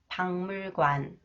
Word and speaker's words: 박물관: And this one, when the final consonants 기역, 키읔, 기역, 시옷, 리을 기역 combined with the 미음 sound, they are pronounced 응 sound. 박물관, 부엌문, 목만, 흙먼지.